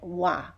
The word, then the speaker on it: は: a hiragana ha but when it's used as a particle we pronounce it wah wah is often called